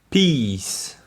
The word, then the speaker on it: peace: Ça, je vous invite à regarder l'écrit pour bien voir la différence. Peace. Et vous avez piss, qui est de la pisse. Piss. Je répète les deux. Peace. Piss.